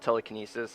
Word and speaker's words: TeleCANesis: It's uh it's called Telekinesis. It's spelled wrong on purpose.